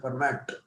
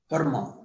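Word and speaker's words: Fermat: in physics and Mathematics often physicists pronounce name as format but he silent there being a French name Perma he was a great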